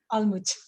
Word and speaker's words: Alma: yeah yeah absolutely beautiful alma am i saying your name correctly i'm always interested in pronunciations well i think it's not possible in english in german we say almoud okay yeah learning excellent